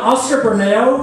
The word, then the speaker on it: Oscar Bermeo: So next up, we've got Oscar Bermeo, who is an amazing, amazing poet. We're so lucky. Am I pronouncing your name right?